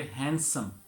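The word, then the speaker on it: handsome: हैंडसम, हैंडसम जो है इसके अंदर डी जो है वो साइलेंट हो जाएगा और हम इसे बोलेंगे, कैसे प्रोनाउंस करेंगे? हैंडसम।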